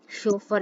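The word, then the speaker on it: chauffeur: Driver वगैरह रखते हैं, उसको हम बोलते हैं शोफर। शोफर इसकी प्रोनाउंसिएशन होगी।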